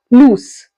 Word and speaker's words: loose: use the word loose there is a difference in the pronunciation also here we are ending with the z sound lose and here we are ending with the S sound loose now first one meaning